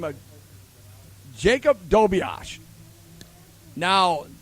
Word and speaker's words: Dobias: Anyway, there's a kid up there now by the name of Jacob Dobias. Now, the way the name is spelled, it's D-O-B-I-A-S, like Dobias.